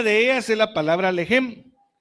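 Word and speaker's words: לֶחֶם: Entonces, esta palabra pan viene del hebreo 3899, más o menos se pronuncia lejem.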